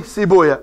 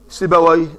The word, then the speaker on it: سيبويه: فلما التقينا مع علماء ومشايخ كبار برا قالوا نقول عنه رهويه رهويا، نفطويه نفطويا، سيبويه سيبويا. هذا عند أهل الحديث، لكن في اللغة العربية سيبويه نفطويه وهكذا.